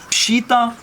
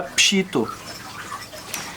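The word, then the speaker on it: Peshitta: Parce que dans la région ouest de la Syrie, on prononce plutôt en O, alors que la région est, on récite en A. Donc les Chaldéens ont la Pshita, alors que tous les Syriaques ont la Pshito.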